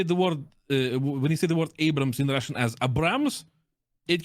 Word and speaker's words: Abrams: I mean, it's Abrams. Of course, the pronunciation is a bit different in Russian, but they get it quite right.